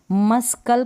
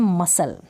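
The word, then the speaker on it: muscle: पर हम क्या करें मस्कल कभी भी पढ़ते हम पढ़ते हैं मसल मसल कर लें पत्ते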